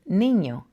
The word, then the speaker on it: niño: If you've been able to pronounce lasagna, then you've always been able to pronounce la letra ñ, like in niño.